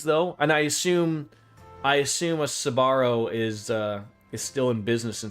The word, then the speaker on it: Sbarro: I'm just Sbarro? Sbarro? Maybe the S is silent and then it's just Barro. That's it.